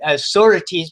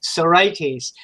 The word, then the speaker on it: sorites: creating a sorites now i've i've been mispronouncing that word authorities because it just feels better to say the word that way but the actual pronunciation is sarai tease and remember this is